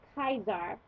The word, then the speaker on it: Caesar: to um know that the C is pronounced hard always for instance we say Caesar's house but in Latin it'd be kaizar because uh the seas